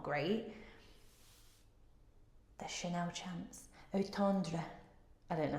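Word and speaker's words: Eau Tendre: The Chanel Chance Otandra, I don't know how you say that. I tried to go fancy there. Otendra is how it's pronounced.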